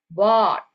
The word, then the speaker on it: bought: Kalau bahasa Indonesia kira-kira kita melafalkan seperti BOT ya, bought. Okay, the book I just bought. Bought. Tapi kayak sepertinya O-nya ada dua. Maksudnya saat pengucapannya itu agak panjang.